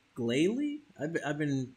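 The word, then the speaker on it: Glalie: to be difficult now there we go the gayi is hovering over the uh charred body of the snow run from earlier it's an adamant nature and the glal ey is pissed GL wait glay glay I've I've been pronouncing this wrong my whole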